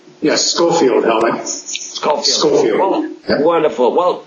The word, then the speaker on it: Schofield: from um Wisconsin and the city is called scoffield is that right Dr Fairman do I pronounce that right yes scoffield hel scoffield scoffield wonderful well Dr Fairman hi